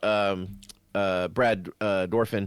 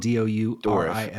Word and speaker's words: Dourif: You were talking about Brad Dorfin. Is that it? Dourif is how it's spelled. Dourif.